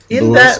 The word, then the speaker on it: Louis: Nah, I think it's pronounced Louis, baby. He says so in a song. Oh, okay. Yes, sir. But everyone says Louis Armstrong. I know. Everyone's wrong.